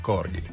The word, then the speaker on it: Corgi: trovato Corghi Ah Cor tu hai detto Corgi però la pronunci in inglese su internet è Corghi attento che ti accorgi